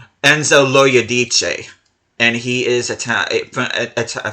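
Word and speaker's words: Enzo Loiodice: offer which I did figure out how to pronounce this guy's name this guy is name Enzo ladich and he is it a French Italian well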